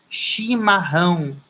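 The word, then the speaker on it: chimarrão: american tea shima home so beta shima home people from the south uh drink shima home it's when it's very cold it's called shima home and people drink it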